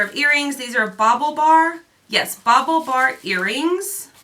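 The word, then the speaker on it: BaubleBar: how you say it bauble not like bobble Bobble bar okay that's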